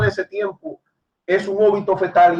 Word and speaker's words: óbito fetal: es aborto, es un óbito fetal. Y deben de entender esto, porque uno de los cupos... ¿Puedes repetir el término? Porque no lo escuché bien. Es óbito fetal, con acento en la O.